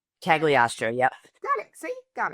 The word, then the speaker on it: Cagliostro: It's Cagliostro, just a lot of vowels. At least Cagliostro? Cagliostro.